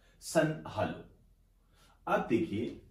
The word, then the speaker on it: halo: घटना यह है कि एक शब्द हमारे सामने आया है, सन हालो। कई इसको प्रोनाउंसिएशन के तौर पर सन हेलो भी कह देते हैं।